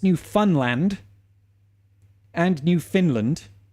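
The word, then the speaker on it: Newfoundland: boiling his Jam I beg your pardon it's pronounced new Funland not New Foundland oh is it is it it really new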